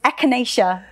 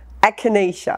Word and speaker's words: echinacea: like oh no why do i have to pronounce this i'll help you it's echinacea echinacea echinacea yeah okay i actually did look this up